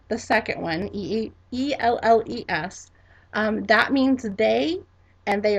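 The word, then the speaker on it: elles: And our second way to say it is elle, elle, and that is spelled E-D-L-E-S. E-D-L-E-S. Now, here's the difference between those two. They both mean they. But if you say L, the second one, E-L-L-E-S, that means they, and they are all girls.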